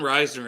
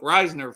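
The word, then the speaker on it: Risner: back they made sure they took Reisner first or Reasoner I think is how it's pronounced but yeah yeah so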